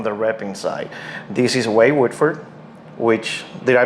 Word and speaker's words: Wohlford: This is Wade Wohlford, which, did I pronounce that correctly? Wohlford.